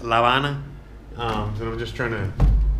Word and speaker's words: La Habana: In English, it's Havana. You know, in Spanish, it's La Habana.